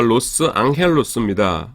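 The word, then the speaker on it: Los Ángeles: 그래서 원래 그 스페인어를 뭐냐면은 로스앤젤리스가 로스 앙헬로스입니다.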